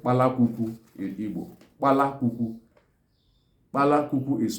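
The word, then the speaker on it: palaququ: Sparrow is called palakuku in Igbo. Palakuku. Palakuku is spelled as P-A-L-A-Q-U-Q-U.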